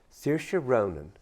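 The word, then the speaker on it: Saoirse Ronan: of film projects and then when they did Sira Ronan that's how you pronounce her name who is who was the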